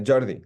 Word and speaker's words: Jordi: different language yeah yeah so it's JY like the English pronunciation exactly exact it's it's